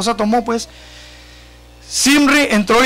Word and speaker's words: Zimri: Después que sirve, dio muerte a Ela, él mismo, fíjese nomás, Zimri, con Z, ¿verdad? ¿Cómo se dice, hermano José? ¿Sim? No es, porque no tiene acento en la I. Zimri.